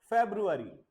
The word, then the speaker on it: February: फेब्रुअरी, फेब नहीं, ठीक है, लिसन केयरफुली, ध्यान से देखो।